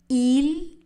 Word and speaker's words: ils: Ils sortent. Le S de il n'est pas prononcé.